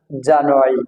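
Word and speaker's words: January: জানুয়ারি জানানো জানুয়ারি এই আরটা উচ্চারণ হবে না জানুয়ারি জানুয়ারি আরটা যদি আমরা না বলি তাহলে হবে জানুয়ারি হালকা করে বলতে হবে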